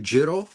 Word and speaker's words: Jin-Roh: Okay, so Jin-Roh, the Wolf Brigade. It's actually a play on a term Jin-Roh, which means werewolf.